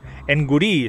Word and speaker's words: Nguri: N-G, Nguri se escribe. Nguri, como gnomo, pero al revés.